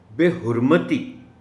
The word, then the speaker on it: بے حرمتی: وزن گر جائے گا۔ بے حرمتی، میم پر زبر کا خیال رکھا جانا چاہیے، حرمت ہے تو پھر حرمتی ہوگا۔ تشخص، زیادہ عام استعمال